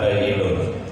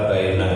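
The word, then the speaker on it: بَيِّنٌ: Baik sekalian, ini saya mengutip juga innal halal la bayyinun. Kadang-kadang ada yang bacanya karena tidak paham jadi innal halal la bayyina katanya.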